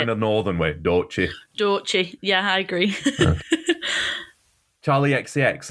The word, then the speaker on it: Doechii: Can you help me with the pronunciation? Is it Doechii? Doechii.